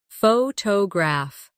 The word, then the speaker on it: photograph: Repeat after me. Photograph. Now, photographer. Notice how the stress changes when the word becomes longer.